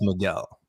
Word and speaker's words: Miguel: have Miguel or Spider-Man 2099 so it's actually pronounced Miguel okay okay uh anyways so back back to